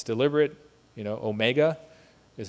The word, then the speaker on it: AuMEGA: It's deliberate, you know, Omega is how you pronounce it and that's what we're looking for is to find the next big deposit in in Newfoundland.